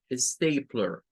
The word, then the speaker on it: stapler: Stay vendría siendo la primera, stay, y luego la siguiente va a ser plur, stapler, stapler. Vendría siendo la pronunciación para lo que es la engrapadora. Dos sílabas. Stay, esa se vuelve una vocal larga en este caso, A, y luego la P, la L, la E y la R se hace con un schwa.